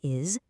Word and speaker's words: is: It sounds like it has a Z at the end.